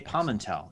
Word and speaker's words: Pamental: dogs is it J Pam and tall it is J Pimentel everywhere or J palm and tell if you want to pronounce it more like I would but that's fun either